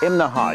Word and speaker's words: Imnaha: Okay, this morning we're in Imnaha. Now that's 3 syllables, Imnaha. You have to say it that way or people in town will laugh at you.